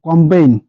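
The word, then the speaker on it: campaign: name নাম cake cake এরপরে জি এন এর আগে জি থাকলে এন এর আগে যদি জি থাকে কিংবা জি এর পরে যদি এন থাকে তাহলে কিন্তু জি সাইলেন্ট হবে এর উচ্চারণ হবে না সাইন সাইন মানে হচ্ছে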